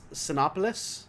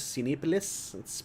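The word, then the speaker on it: Cinépolis: like regal i miss cinopolis i know i'm not even saying that right it's cinepolis it's pronounced different it's actually originated in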